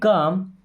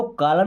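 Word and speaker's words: calm: Keep काम, देखिए keep का मतलब होता है रखना या रहना। ओके, अब इसको कॉलम नहीं पढ़ना है, काम एल साइलेंट है, कीप मीन्स रहो, काम, काम मीन्स शांत, है ना।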